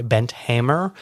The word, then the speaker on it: Bent Hamer: This was a Canadian-Norwegian film directed by Bent Hamer, I believe is how you say his name.